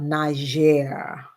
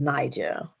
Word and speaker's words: Niger: connected so we are talking about Niger that's how you pronounce it I thought it was Niger but just like I